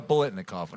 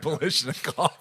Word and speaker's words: Biletnikoff: The Biletnikoff, not Balishnikov.